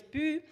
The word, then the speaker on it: Püü: I will just clear out the pronunciation. So my name is Püü, and first of all, I would really like